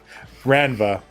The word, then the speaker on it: Ranva: Ranva. Ranva. Sorry, I always want to say it like Vanva or something like that, but I know that's wrong.